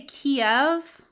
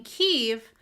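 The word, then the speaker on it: Kyiv: But all the reporters are saying Kiev. And I don't know if it's really Kiev. I think it's Kiev. Like, you're supposed to say the part, but not put the emphasis on the second syllable.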